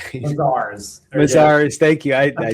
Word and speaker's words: Mazars: I I hope I pronounced that right. Mazars Mazars.